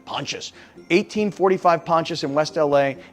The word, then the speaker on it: Pontius: Avenue in West LA when I say ponchas p o n t i s I don't know how to pronounce it I was like is it Pontius no I had to put it in Google and then Google told me pontious 1845 pontious in West